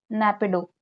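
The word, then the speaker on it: Naypyidaw: ठीक है, क्या बोलते हैं, नैपिडो। प्रोनाउंसिएशन सभी का अलग अलग हो सकता है बट नैपिडो इसकी कैपिटल है।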